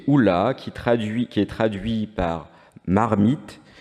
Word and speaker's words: hola: d'oc, et il vient du mot hola, qui est prononcé oula, qui est traduit par marmite dans le dictionnaire languedocien de Pierre-Augustin Boissier de Sauvage.